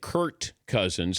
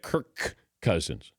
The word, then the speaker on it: Kirk Cousins: have mispronounced or they think I'm saying Kurt cousins instead of Kirk Cousins if I'm being lazy